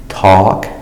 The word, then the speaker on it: talk: makes the sound all even when the L is silent so that L is there to tell you to pronounce the a with the all sound but don't pronounce the L talk walk other spellings for